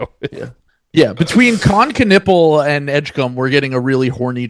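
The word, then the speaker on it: Edgecombe: announcer was from, but he pronounced it edge. So, we've just always said it in that way ever since. And I think it is technically pronounced that that way.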